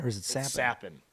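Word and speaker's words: Capan: He's from Is it Frankie Kappen or is it Sappin? Sappin.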